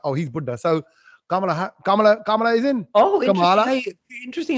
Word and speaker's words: Kamala: So Kamala is in.